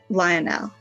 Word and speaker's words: Lionel: e much love always Lionel like loyal it's spelled Li Oh Andy L so we'll see you